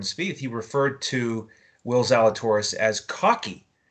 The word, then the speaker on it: Zalatoris: Will Zalatoris. Not Zach Gaffel, what's his name? Gaffel. Right, I can't pronounce that one. I can pronounce this one. Zalatoris, the Z-Man.